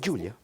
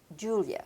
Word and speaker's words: Julia: How do you pronounce it? Julia. Julia.